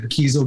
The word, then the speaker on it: Kiesel: you've never heard of kiesel guitarist it's spelled like the word diesel like diesel fuel but with a k keystone and that's a